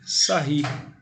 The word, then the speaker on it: Sarrus: Isso é conhecido como a regra de Sarri. A forma de escrever é regra de Sarrus, mas a pronúncia é Sarri, ele era francês.